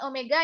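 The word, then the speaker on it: ω: W nah yang ini ini kita membacanya dengan Omega ya Nanda nah Omega ini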